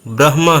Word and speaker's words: ब्रह्म: को बता दूं कि इसका जो शुद्ध उच्चारण है वह ब्रह्मा है ब्र फिर आधा ह और उसके बाद म ब्रह्म यह इसका शुद्ध उच्चारण है अब